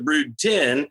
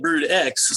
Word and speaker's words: Brood X: So it just so happens that when they got to brood 10, it looks like brood X. So people have been mispronouncing it, but it's really brood 10.